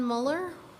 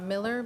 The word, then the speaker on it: Miller: Muller said Miller. Uh Miller. Yes. Maybe I might have pronounced your last name wrong. Kind of sound like Müller. I uh looks like Müller. Yes. My name's Miller.